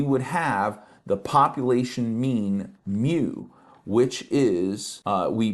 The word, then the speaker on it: mu: size n we would have the population mean mu which is uh we pronounce it mu uh it's it's a Greek letter mu uh